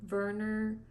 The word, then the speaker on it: Werner: Germany weren't that's probably I know Germans pronounced their W's like these so it's probably Werner Finnick an orphan grows